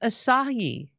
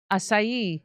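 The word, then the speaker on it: açaí: I think it's pronounced Asahi. Acai. I say acai. I know. I didn't know that the C was pronounced an S.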